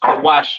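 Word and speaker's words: כּוּשׁ: Cush, pronounced Kawash in the Hebrew, all right?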